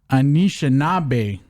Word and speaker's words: Anishinaabe: Let me pronounce his nickname correctly here. Anishinaabe, the Anishinaabe kid, Deaton the third.